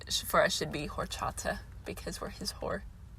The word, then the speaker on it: horchata: specifics i just know it's called horchata not it's h-o-r okay uh so it'd be or but i just pronounced the h because of the pun oh this one's so